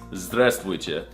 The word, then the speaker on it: здравствуйте: It's здравствуйте.